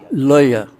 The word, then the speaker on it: লঞা: What's the proper pronunciation of it? Lañā.